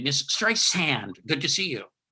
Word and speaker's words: Streisand: Pronounce it like an S, Streisand. If you say Streisand with like a Z, you're done with her.